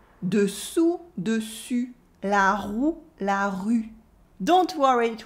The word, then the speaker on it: roue: When learning French, people often can't make the difference between the U and the OU.